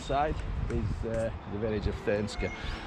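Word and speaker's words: Thurnscoe: the village of thinska I think it's this guy I was pronouncing it fernsco on the last video wasn't it um as it's as it's written really but as we know around here things aren't pronounced the way they're written are they so we're leaving that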